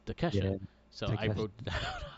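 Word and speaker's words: Takeshita: I always forget and I always call him takash but it's Tesha so I wrote down how to say it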